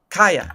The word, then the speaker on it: Chaya: Ah, Chaya. Kaya. That's right. Kaya. How do you spell it? C H A Y uh Y A. Uh c h a y a sha. Yeah. Chia. Yeah. She said uh kaya. Um because again she's Jewish.